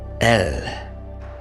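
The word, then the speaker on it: אל: And that word is pronounced as El.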